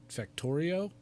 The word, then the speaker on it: Factorio: It looks like Factorio.